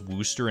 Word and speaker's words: Worcester: anti-quidnunk that's not me isn't actually pronounced Wooster in a complete contravention of language I've always said Worcestershire